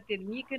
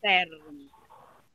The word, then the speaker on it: térmica: acentinho fica térmica né não é termica e não termica é térmica como ela é uma